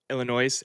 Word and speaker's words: Illinois: Um, how long into the game do you think it will take for you to pronounce Illinois correctly without the S? Did I say Illinois on air already? Yeah, It's yeah. Illinois.